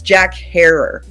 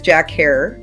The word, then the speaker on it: Herer: The first thing about Jack, he would always say, it's Jack Harer. So rhymes with terror. And that's what he would say. So his name is Jack Harer.